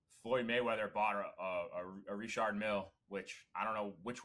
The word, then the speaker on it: Richard Mille: Richard Mille.